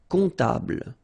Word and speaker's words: comptable: Un comptable, so OM, remember it goes like on, all right? And then, strangely, this P is not pronounced. Un comptable, all right?